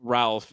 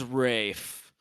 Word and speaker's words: Ralph: You don't pronounce it like Ralph. It's It's Rafe.